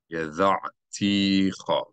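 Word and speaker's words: ידעתיך: Immi wa ato amarta yada'ticha. Here we see an indication by the cantillation symbol, the ta'am, that we should emphasize this syllable.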